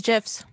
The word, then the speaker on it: GIF: true so however that g if it's a hard g which it is in this case it's graphic then it's g gif